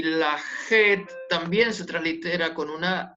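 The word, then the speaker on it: חית: de la ley y esta se pronuncia como una jota como una j lage y en la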